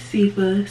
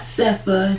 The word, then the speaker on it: Sifa: know my name is sifa spell s-i-f-a pronounce FIFA not cepha not Cipher not Sophia not safia definitely not staff here so call me Sapia